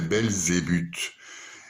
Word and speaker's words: Belzébuth: pas Sébastien, c'est pas Bel et Sébastien, c'est Belzébuth.